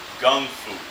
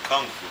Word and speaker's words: Gung Fu: He learned Gung Fu, and I say Gung Fu on purpose. That's the Cantonese pronunciation of Kung Fu, which we're more familiar with, right?